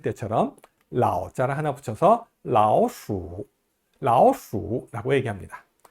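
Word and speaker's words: 老鼠: 아까 호랑이를 할 때처럼 라오자를 하나 붙여서 라오수, 라오수라고 얘기합니다. 수가 원래 제3성인데요. 라오수 할 때 수는 좀 다소 약하게 발음됩니다.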